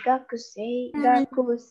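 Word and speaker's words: 学生: Di sini bukan bacanya bukan gakusei ya, tapi ku-nya itu kita lesapkan, jadi kayak gakusei gitu.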